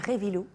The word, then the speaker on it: Reivilo: Et puis aussi, bien sûr, nos invités, Révilou. C'est ça, on prononce comme ça.